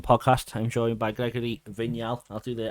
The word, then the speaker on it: Vignal: I'm joined by Gregory vigal I'll do the I'll do the French pronunciation for you thank you very much